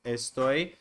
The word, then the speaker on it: estoy: the accent mark is so for example you would not say estoy estas esta because the accent is on the second part estoy estas esta and then